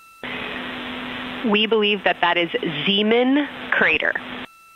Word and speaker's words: Zeeman: We believe that that is Zeeman crater. Zeeman. Okay, and can you say the first letter? I may be pronouncing that wrong. What's the first letter of that word? Zulu. It's Zeeman.